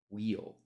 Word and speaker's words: weal: Wheel spelled this way, W-E-A-L, wheel.